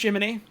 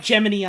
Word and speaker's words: Gemini: So apparently that guy's name is Gemini, but it's pronounced Jiminy. Awesome. Of course. Or like Gemini, I guess.